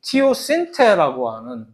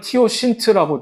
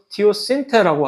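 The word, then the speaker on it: teosinte: 실제 사진이 있으면 이 옥수수의 원래 조상, 야생 옥수수인 티오신테라고 발음을 합니다. 책에는 티오신트라고 되어 있으나 어쨌든 원래 제대로 된 발음은 티오신테라고 하는 요것인데 이거는 이게 확실히 얘가 옥수수의 조상이다라고 확인해 주기 전에는 아무도 이걸 모르는 거지.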